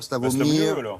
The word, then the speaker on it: Slavomir: Slavomier, alors, S-L-A, Slavo-V-O, M-I-E-R, Slavomir. Non, dites, vous prononcez mieux que moi. Slavomir ou Slavomier?